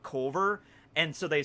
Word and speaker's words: Colver: town and they might think like it's actually called Clover, not Culver, and so they spell